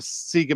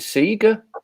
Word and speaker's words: Sega: i never knew that you pronounced it seeger you don't it's sega he pronounced it see